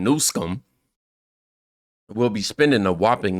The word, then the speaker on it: Newsom: keep voting for him Gavin Newsome I'm sorry I said his name wrong y'all know I'm horrible with names I meant to say Gavin nsum will be spending a